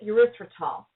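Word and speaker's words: erythritol: years or three for me is the word urethral and I will spell it for you because it's hard e y t h r i t o l uriol it's another polyal it also comes from plant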